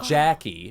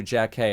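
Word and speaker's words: Jackée: He said Jackie as opposed to Jack K and now she goes by Jack Harry.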